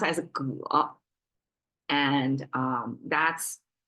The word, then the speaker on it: 戈: It pronounced as 戈, and that's like double purpose tool making, either farming or weaponry.